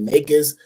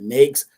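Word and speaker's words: NAICS: code somebody pronounce it nis somebody pronounce it nakes however you however you pronounce it that's what it stands Right.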